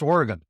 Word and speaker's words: Oregon: podcast okay we we out here in Oregon pronounce it Oregon not Oregon just so you're in the no so it's Oregan yes yes you're a quick learner yeah we